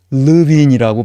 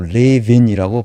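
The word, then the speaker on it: Lewin: 때 설명드리겠습니다 그 그래서 미국 사람들도 르빈이라고 발음하지 않고 리빈이라고 발하 독일어 발음이 워트 리빈이라고 미국 사람들도 그렇게 발음하는 대단히 그 거의 천재적인 사회심리학자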